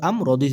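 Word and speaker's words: أمر: লাম জের লি মিন কুল্লি হামজা মিম জবর আম রদি রিন আমরিন এখানে যেহেতু ওয়াকফ হবে ওয়াকফের সময়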